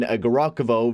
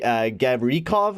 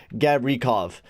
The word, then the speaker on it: Gavrikov: As I've been saying, Garokovo, very wrong. It's actually Gavrikov, I think it is.